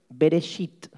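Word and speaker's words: בראשית: van a aprender una palabra en hebreo es bereshit o veréis it empieza con be el hebreo se escribe de derecha hacia izquierda es al revés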